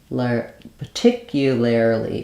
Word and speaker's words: particularly: a little bit easier so the most correct is to say per par per so that R can be more of an ER because it's not stressed so per tick you particularly particularly particularly okay here's what I